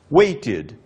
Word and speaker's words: waited: Nós acrescentamos ed, a pronúncia nesse caso é id, wait, waited.